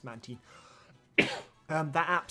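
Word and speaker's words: Mantine: the official pronoun stuff so it's yes it's manty um that app sounds horrifying I don't want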